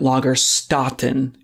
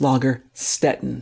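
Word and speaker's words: Lagerstätten: the lager Stetten but they were wanting me to do that last hard vowel correctly I was saying lager Staton and it's lager Stetten so I apologise for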